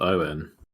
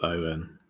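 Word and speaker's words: Óin: still fun fun fact did you know it's pronounced Owen o it's Owen okay Owen good uh GL um again it's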